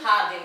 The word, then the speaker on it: jardín: நான் வந்து una jardín அப்படின்னு நான் போட்டேன், no, it is un jardín தான், and you have to learn by heart. So un jardín, ஜேங்கிறது her pronunciation.